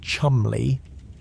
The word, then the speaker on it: Cholmondeley: Beside him was Flight Lieutenant Charles Cholmondeley, pronounced Chumley, naturally, because nothing in Britain is spelled the way it sounds.